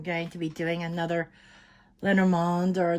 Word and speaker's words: Lenormand: Greetings, I'm going to be doing another Lenormand or Lenormand. There's two pronunciations. I think the European pronunciation is Lenormand reading.